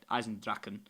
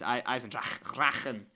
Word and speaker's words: Der Eisendrache: it clear now that it's not a Eisendrachen, it's Eizendrachen. Der Eisendrachen.